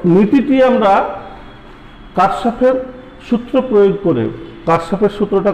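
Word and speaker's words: Kirchhoff: তো নীতিটি আমরা কারশফের সূত্র প্রয়োগ করে, কারশফের সূত্রটা কোন কোন বইতে কিরশফ লেখা আছে, যারা কিরশফ বা কারশফ বিদেশি উচ্চারণ এরকম হয়, কিরশফ বললে হবে, KIR আছে।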